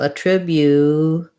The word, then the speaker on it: attribute: So attribute, and then this T, because it's between, it doesn't start a stressed syllable. Attribute is going to sound more like a D.